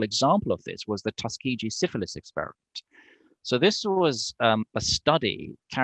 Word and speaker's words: Tuskegee: And I'd like you to explain to me and to the people listening about Tuskegee. That's the right way to say it. Yeah, Tuskegee or Tuskegee.